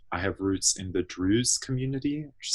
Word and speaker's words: Druze: So both my parents are Lebanese, and I have roots in the Druze community, which is spelled Druze.